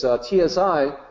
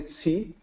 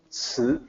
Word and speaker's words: 慈: So even this is, TSI is not that close. English speaker might say ci. So that's kind of closer. It's closer. It's better than the other possibilities. But the actual pronunciation, 慈, kind of tricky. No good equivalent in English.